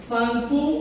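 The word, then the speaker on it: Tsangpo: यहाँ पे देख सकते हैं टी साइलेंट है, सांगपो नदी से ये निकलती है ब्रह्मपुत्र नदी।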